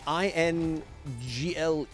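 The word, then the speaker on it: inglés: english is english but you have to put an accent on the e so i n g l e with an accent s is ingles is english when you don't have the accent on it ingles means groin and i thought some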